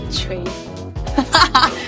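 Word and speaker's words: 锤: So, do you know the pronunciation of that? Can you In remind Chinese? me? Yeah, it's Chui.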